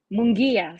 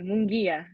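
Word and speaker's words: Munguía: because i really um somebody let me see mungya sorry mungia don't be nice to me to pronounce things i can't that i'm not good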